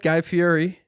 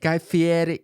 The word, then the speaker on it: Guy Fieri: I met Guy Fieri. Oh, what Guy have to say? Guy Fieri. The way he says his name is different than how you think he'd say his name. Guy Fieri or some shit like that.